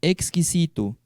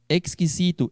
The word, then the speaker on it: exquisito: Exquisito. A pronúncia do X em espanhol é essa, viu? Exquisito, exquisita. Aonde tem X em espanhol se pronuncia igual a tax.